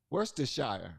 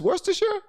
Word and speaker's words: Worcestershire: you can pronounce percar is that how you pronounce I thought it was where's the Shire Worcestershire maybe you're right I guess I can't pronounce whitening I thought it was Worcestershire it's Worcestershire games either forget that I can't pronounce non-white